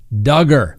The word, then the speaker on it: Duggar: let's talk about josh duggar and for all those that hate it that's right rhymes with hugger okay i said it